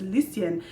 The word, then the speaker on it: Lucien: It's Lucien." And he was like, "Oh," and Oliver like pronounces Lucien like perfectly, and Luke is just like, "Oh, soon."